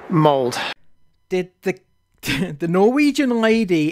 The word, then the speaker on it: Molde: offend anybody it's just the Norwegian lady in the quap tell me here it's pronounced mold did the the Norwegian